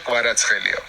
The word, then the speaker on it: Kvaratskhelia: So KH is Georgian. Khvicha. So the right pronunciation will be Khvicha Kvaratskhelia.